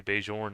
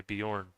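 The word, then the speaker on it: Björn: J cuz I know I guess like in Norwegian you wouldn't say Beij, you would say Bejorn kind of like I guess in Spanish you would probably also say some something similar Bejorn as well.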